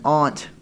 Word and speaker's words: aunt: An ant is something that crawls on the ground, jackass. An aunt.